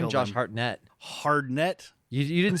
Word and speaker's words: Hartnett: Josh Hartnett was her son, and Michael Myers. Did you hear how he came said his to name? kill Josh them. Hartnett.